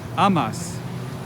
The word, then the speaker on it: amas: like spanish doesn't it amas you love the stress falls on the second to last syllable amas amaz he loves